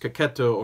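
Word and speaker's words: Checchetto: Aaron cooter and Marco Caqueta was there I guess it's actually pronounced kokuto according to CB Cebulski so I guess it's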